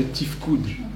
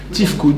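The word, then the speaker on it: תפקוד: Ça s'appelle en hébreu des problèmes de tifkoud.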